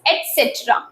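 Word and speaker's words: et cetera: एंड इट is pronounced as एटसेट्रा जो कि हमको पता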